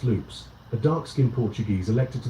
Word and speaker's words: Lopez: Paul Conover, owner of Amitil Lickers, and Rafe Lopez, pronounced loops, a dark-skinned Portuguese elected to the board by and a vocal defender of the town's black community.